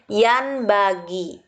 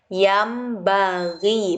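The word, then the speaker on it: ينبغي: Lafadz yang pertama dibaca yam bagi. Padahal tulisannya di sini yan bagi. Karena anjuran di sini nun matinya harus menjadi mim, jadi dibaca yam bagi, bukan yan bagi.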